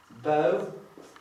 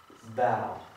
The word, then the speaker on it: bow: Pierwsze to jest bow, a drugie to jest bow.